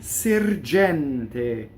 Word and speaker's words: sergente: A son sergente, right? Okay, so the E in sergente is open. It rhymes with sorprendente.